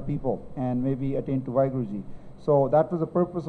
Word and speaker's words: Vaheguru: Okay, so Vaheguru, there's 4 akhar. Vavva, Kanna, Va, Haha, Hainu Sari, Vaheguru.